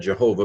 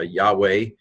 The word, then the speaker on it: Yahweh: God YHVH yhw H sometimes it's been said Jehovah but that's not quite right yo ho Yahweh Jews would say ah